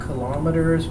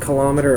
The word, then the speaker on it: kilometer: The units are going to be in meters per second or kilometers per hour. It can be pronounced kilometer or kilometer, just a reminder.